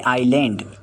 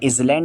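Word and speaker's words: island: नौवां वर्ड है आइलैंड। इसे इज़लैंड नहीं पढ़ते हैं क्योंकि इसका एस जो है साइलेंट होता है। इसे आइलैंड पढ़ा जाता है और इसके मायने है जज़ीरा जो समंदर में पाया जाता है।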